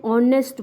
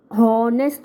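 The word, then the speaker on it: honest: हम उसको हॉनेस्ट नहीं बोलते, हॉनेस्ट नहीं बोलते हैं हम उसको, हावर नहीं बोलते हैं हम उसको. क्या प्रोनाउंस करते हैं? एन ऑनेस्ट बॉय, an hour. तो यहाँ पे साउंड जो है वो ओ का है, इसीलिए इसके सामने हमने क्या लगाया है?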